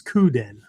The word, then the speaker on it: kuden: leads off with um how to properly pronounce kuden because you and I have heard everything from that to kuden to I don't know all kinds of crap, right? So, but anyway, uh it's coupen, right?